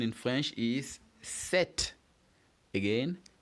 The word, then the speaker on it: sept: And 7 in French is sept. Again, sept. Yeah, so when you pronounce set, the P is silent.